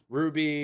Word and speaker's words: RWBY: Ruby. It's spelled RWBY.